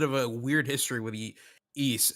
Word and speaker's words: Ys: I Okay, it's I have I have like a bit of a weird history with East. That's how you pronounce it, right? East. Yeah, East. Yep.